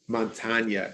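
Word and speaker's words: Montaigne: essay in some ways his name montagna is how you say it it's spelled like montane just a dream among the many things i've learned from montana i'm a little surprised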